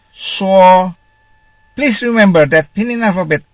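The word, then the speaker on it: shuo: s-h-u-n is pronounced soon s-h-u-o is pronounced as saw please remember that pinion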